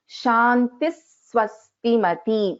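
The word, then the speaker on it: शान्तिः स्वस्तिमती: we have a Sakara, we will be pronouncing this as Shantis Swastimati. You can hear that little bit of stress on Sa here. Shantis Swastimati. This is the correct pronunciation.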